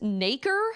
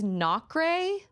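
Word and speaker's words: nacre: I think it's pronounced Naker. Spelled N-A-C-R-E.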